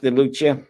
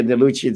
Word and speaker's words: DeLucia: and delucia uh the in italian for those of you that are italian and say tony nacarado is mispronouncing it you're right it's de lucia but we pronounce it here the lucci the same thing with